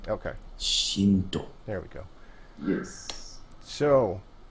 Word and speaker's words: zh1nt0: Zinto. Do you pronounce it Zinto, by the way? Or how do you pronounce it? Yeah, it's Shinto. Okay. Shinto.